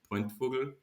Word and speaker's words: Pointvogl: In Bavaria, where the name is coming from, you pronounce it Pointvogl. Pointvogl.